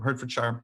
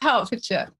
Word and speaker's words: Hertfordshire: the university of hertfordshire i don't know if i pronounced that right i wasn't gonna correct you but no go ahead tell me how do you pronounce it ironically it's the county i live in you're kidding it really is what fortune it's hartfordshire hartfordshire okay so there you go